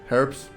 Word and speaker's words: herb: herbs herbs is better why Americans say herbs I like if you're an American tell me in the why do you say herb instead of herb say herbs why you like skip the H I don't know uh